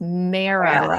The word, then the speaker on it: MARA: about a program called, I say it wrong every time. I want to say Mara. It's Mara.